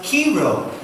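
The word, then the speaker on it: Chi Rho: yeah that's actually an ancient symbol that is pronounced kero and is a Christian symbol consisting of the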